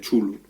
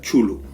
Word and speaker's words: Cthulhu: El Círculo Lovecraft pues fueron los que más o menos fueron creando los mitos de Cthulhu.